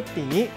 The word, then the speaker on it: 纏: 今仔日小解这一字读作甜，另外一个音读作淡，提供予观众朋友来参考。